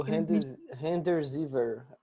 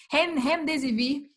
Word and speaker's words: Remdesivir: também naquele Remdesivir, O Remdesivir. Acho que é assim que yeah, se pronuncia. É o americano, né? Esse aí, Remdesivir.